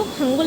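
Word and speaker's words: 한글: तो इसके लिए मैं आपको जैसे एक रेफरेंस देती हूँ हंगल का, HANGEUL। मैंने आपको पहले ही बताया था कि वो हंगुल नहीं होता, वो हंगल होता है।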